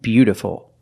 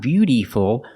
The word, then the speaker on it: beautiful: Remember, the second word is not beautiful, it's a short sound. Beautiful.